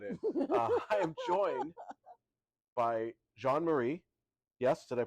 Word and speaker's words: Jean-Marie: I am joined by Jean-Marie. Yes, did I pronounce it correctly? Yes, you did. Please give us your full name and your official title here at Canyon Ranch. I'm Jean-Marie, and I lead our spiritual wellness here